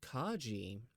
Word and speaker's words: Kaji: Let us call it a day and start raiding into Kaji. That's how he said his name is pronounced.